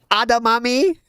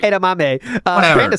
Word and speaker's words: edamame: Adamami. Very thick. A crab cake. And a Adami rice cake. Some adami. Adam. Whatever you say. Adam rice cake. Adamami. Whatever. Edamame.